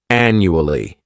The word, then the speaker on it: annually: This word has four syllables and the stress is on that first syllable. The second syllable, it's like you're just saying that letter u and the third syllable has that schwa annu ali annually.